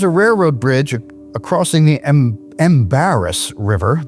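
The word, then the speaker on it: Embarras: There's a railroad bridge acrossing the Embaris River. The locals pronounce it the Ambra about 10 mi west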